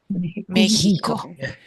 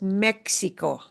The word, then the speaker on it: México: México. We should never pronounce this Mexico.